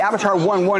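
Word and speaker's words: Avatr 11: other companies okay now the Avatar product the Avatar one one is the correct pronunciation for this automobile this vehicle can be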